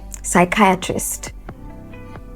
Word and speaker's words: psychiatrist: a word like like psychiatrist the ideal sound to begin that word should be a s but that is not how it is spelled it begins with a p so these are the